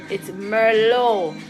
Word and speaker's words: Merlot: It's not, the T is silent for a reason. So it's not Merlot, please. Nobody make me ear no call no wine no Merlot. There's nothing by the name Merlot. It's Merlot.